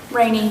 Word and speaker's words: Rainey: Is it pronounced Rainey, ma'am? Rainy, yes.